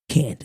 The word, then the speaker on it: Candiace: a c e d but it's still pronounced cand it's pronounced Candace so my whole life